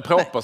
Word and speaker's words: Proper: Jag har bara hittat på det namnet, jag vet inte om man uttalar det, men Proper skulle jag säga. Ja, Proper på svenska.